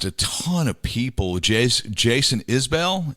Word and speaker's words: Isbell: Jason Isbell, is that how you pronounce it? Yeah. Or Isabel? Isbell.